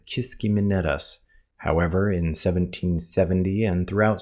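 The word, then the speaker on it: Kiskiminetas: Using various online pronunciations, this is how it really sounds. Kiskimenetas. Kiskimenetas. Kiskimenetis.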